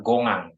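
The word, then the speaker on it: 공항: kong hang Kong bandara tulisan bahasa Koreanya Gong hang cuman cara bacanya gongang gongang gongang tulisannya gongeng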